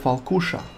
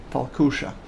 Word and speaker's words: Falkuša: which had such similar sails, which is called Falkuša. I do recommend you check it out. It's spelled F-A-L-K-U-S-H-A, Falkuša.